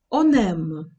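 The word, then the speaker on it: on aime: Подивіться, я вимовляю це знову як одне слово. В уроці про дієслова, що починаються з приголосної, ви, мабуть, помітили, що я вимовляла цей он як носовий. Я вимовляла це он. Зараз я вимовляю он. Он. Чому так відбувається? Через те, що наступне слово м починається з голосної.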